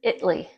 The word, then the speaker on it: Italy: Italy, Texas. Believe it or not, that's how you pronounce it.